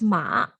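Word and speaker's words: 马: on the right pronounces it's pronounced as ma ma it means horse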